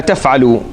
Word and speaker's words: تَفْعَلُوا: So you would find words in the Quran, إِلَّا تَفْعَلُوا or إِلَّا تَنْفِرُوا, right? You say, well, there's an alif at the end. That alif is silent. You don't say it.